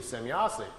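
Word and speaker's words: Semjase: trying to make some write it down phonetically how the the name sounded to him so he wrote it out s-e-m-y-a-s-e semyossi so all of his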